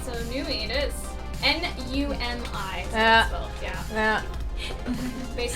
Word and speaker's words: Numi: All right, so Numi it is. N-U-M-I. is how Yeah. it's spelled, yeah.